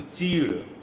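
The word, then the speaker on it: chir: The pronunciation in Hindi is a cheed.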